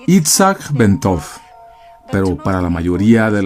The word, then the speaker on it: Itzhak Bentov: Su nombre completo se pronunciaba Itzhak Bentov, pero para la mayoría de la gente era conocido simplemente como Ben.